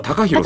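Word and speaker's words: 高弘: 本当は高弘さんね。高弘って読むんだよね。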